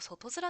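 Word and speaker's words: 外面: いやでも外面って読むでしょ、文脈的に。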